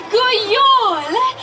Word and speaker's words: God jul: God jul! You know, that is how you say Merry Christmas in my country. Let's hear you all try it. On the count of 3. 1, 2, 3. God jul!